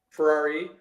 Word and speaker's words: Ferraro: that pronouncing that right is a Ferraro Ferrari Ferrari Ferrari like the car okay so him too